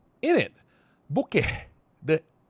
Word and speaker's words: bokeh: The H is supposed to be silent, right?